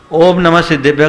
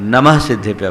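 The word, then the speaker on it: नमः सिद्धेभ्यः: ओम नमः सिद्धेभ्य का उच्चारण नहीं कहते हैं, नमः सिद्धेभ्य बोलते हैं। ओम नमः मत बोलिएगा।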